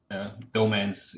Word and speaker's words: Dogemanz: Dogemanz is okay Dogemanz? for English speakers, yeah.